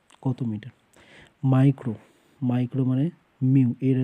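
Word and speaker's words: μ: Micro, micro মানে মিউ, এর যে রাশিমালাটাকে বলে এটার মানে এটা উচ্চারণটা হবে মিউ, ঠিক আছে।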